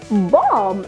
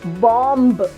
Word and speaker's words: bomb: We have to pronounce it as thumb. This one is bomb and not bomb.